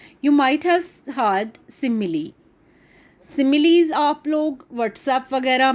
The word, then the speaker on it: simile: ये स्माइल नहीं है, अच्छी तरह से आप इसको देख लीजिए स्पेलिंग को. This is सिमिली. What is simile in fact?